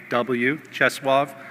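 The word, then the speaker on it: Czesław: polish dissident named cheswav miwosch it's the name is spelled write this down young people c-z-e-s-l-a-w cheswave the last name is miwo spelled m-i-l-o-s-z the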